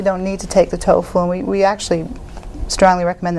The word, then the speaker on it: TOEFL: Now, what is TOEFL? Am I pronouncing that correctly? Yeah. TOEFL.